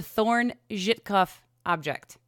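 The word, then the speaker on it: Thorne-Żytkow object: The Thorn-Zhitkoff object. Yes, and well pronounced.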